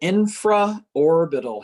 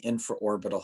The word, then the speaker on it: infraorbital: between those two muscles so that's called the infra orbital head i n f r a o r